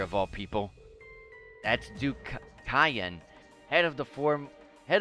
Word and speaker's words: Cayenne: Mer to the West Duke Kion maybe pronounced KN but I like the sound of cayenne better I'd love to stay